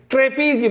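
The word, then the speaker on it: trapezium: ट्रेपीजियम हो गया, ट्रेपीजियम उच्चारण याद है, ट्रेपीजियम, ट्रेपीजियम, ट्रेपीजियम, ट्रेपीजियम, जीएम उच्चारण, ट्रेपीजियम, ट्रेपीजियम हो गया।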